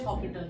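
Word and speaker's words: L'Hôpital: होता है L rule spelling हॉस्पिटल है लेकिन बोलते हॉपिटल है एल हॉपिटल रूल क्या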